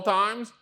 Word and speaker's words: thyme: one of them and it's time time like what time is it however it is spelled I always mess it up t h y m e time it has these very